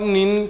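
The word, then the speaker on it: 您: यू ही था तो दोस्तों जो नी और नीन के अंदर जो मेन व य है कि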